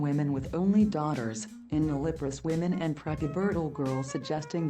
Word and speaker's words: nulliparous: a cohort of healthy nulliparous, how do you pronounce this word? Nulliparous.